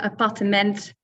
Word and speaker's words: appartement: Now in Dutch, you have 4 syllables. So appartement, pronunciation is maybe not so great there in Dutch, but as you can hear, there are definitely 4 syllables and not 3.